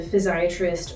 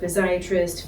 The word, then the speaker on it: physiatrist: So um when I think about um what I do as a physiatrist or a rehab doctor um sometimes um we say pediatric rehab doctor, physsiatrist, physiatrist, you can hear all different pronunciations of it.